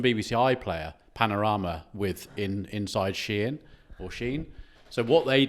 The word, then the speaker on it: Shein: It's actually Shein. I said Shein because everyone calls it Shein, but it's actually Shein.